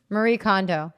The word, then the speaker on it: Marie Kondo: Marie Kondo, just like you just said it.